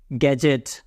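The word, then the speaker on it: gadget: हैं इज D silent उसी तरह बजट जी के पहले डी आ रहा है डी को पढ़ना नहीं है बजट गैजेट डी साइलेंट और एक भी तो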